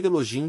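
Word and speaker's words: Elohim: Agora, Eloim é uma palavra que se escreve com h intermédia. E eloim e se pronúncia E elogim porque o u. H soa como o j e significa deusas e deuses.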